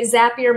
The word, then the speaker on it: Zapier: thing for me yeah apparently zapier makes you happier so that's the way I've gotta remember and I've been saying it wrong oh that's um and